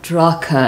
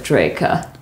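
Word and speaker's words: Draco: Anche se le persone che hanno solo letto il mio nuovo nome e mai lo hanno sentito, spesso lo pronunciano Drah-ca invece di Dreika.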